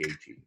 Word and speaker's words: Gaethje: Well, you've just taken away one of my mispronounced names there by saying Gaethje.